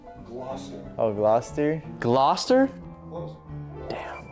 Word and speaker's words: Gloucester: It is pronounced Gloucester.